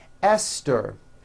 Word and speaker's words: Esther: Although these next words and names are spelled with a TH, they are pronounced as if they were spelled with a normal T, like that.